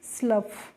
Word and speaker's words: slough: तो SLOUGH को बच्चों हम पढ़ते हैं स्लफ।